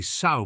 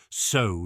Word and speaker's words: Sow: started calling it the Sow Party. Their motto is something to do with sowing the seeds of the future or whatever. That's why it's pronounced like sow, not sow.